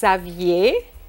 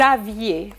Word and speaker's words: aviez: À l'imparfait, vous aviez.